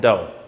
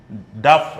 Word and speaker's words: dough: dao see the uh let me just tell you the pronunciation of that one is dove okay it's not duff or something like that it's not duff it's dough okay so you must have